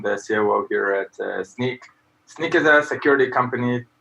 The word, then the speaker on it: Snyk: with us XQ from sync is that right did I say it right from sneak sneak sneak good so first of all